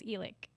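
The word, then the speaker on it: Elick: last name and um it's spelt like e and lick as my grandma used to say so e-link a lot of people say ellick but it's elec yeah we meet now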